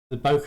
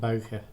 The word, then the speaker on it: bokeh: get a uniformly round bokeh on it, or bokeh, as it's actually supposed to be pronounced.